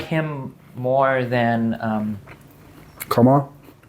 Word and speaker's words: Kamala: Yeah, I like him more than Kamala. you can't say it like that. Kamala. She's not a camel.